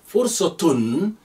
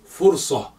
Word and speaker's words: فرصة: You may hear people say fursa without a tun at the end, but if that tun is there, you may or may not pronounce it. That's fine. Fursa or fursatun, an opportunity.